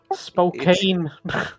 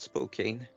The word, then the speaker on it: Spokane: actually yeah yeah I I do know how to pronounce spokando Spokane no it's not spoken yeah why not go